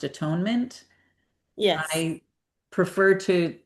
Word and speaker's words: atonement: The circle of at-one-ment. And I wanted to just tell Agnes, I do realize that this word is pronounced atonement.